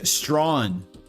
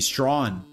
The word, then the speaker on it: Strawn: It is Strawn. Strawn. Like Strong but without the G. Strawn.